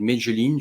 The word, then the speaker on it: Medellín: Là, pareil, la Colombie, je me souviens il y a quelques années, on parlait de Medellín, je ne sais pas si je le prononce bien, mais Medellín, Medellín, ouais.